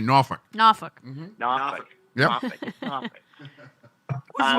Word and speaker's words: Norfolk: Yeah, and you like to pronounce it correctly, Norfolk.